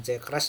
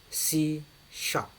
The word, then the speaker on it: C sharp: Kalau C crash itu bacanya bukan C crash dalam bahasa pemrograman, tapi C sharp, ya, sharp.